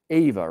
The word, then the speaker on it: Ava: And so I get to do a whole bunch of stuff because I was sitting where Ava was sitting. It's Ava, right? With an A? Okay. Not Eva.